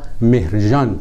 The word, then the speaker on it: مهرجان: ویژه در جامعه‌های عرب عرب‌ها چون صدای گ ندارند مهرگان را مهرجان تلفظ می‌کنند ابوعبدالله مقدسی یا مقدسی